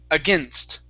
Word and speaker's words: against: had said against okay so instead of using a long a and things okay it's again against against one more time against